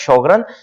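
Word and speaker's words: Sjögren: ठीक है, कुछ लोग इसको जोगरन सिंड्रोम कहते हैं, कुछ लोग इसको शॉगरन सिंड्रोम कहते हैं, लेकिन जो हमारे साथ ठीक प्रोनाउंसिएशन है वो हमारे साथ शॉगरन सिंड्रोम है, लाइक SHOW।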